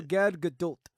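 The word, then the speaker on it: Gal Gadot: And shout out to Gad Gdult. That's how you pronounce her name.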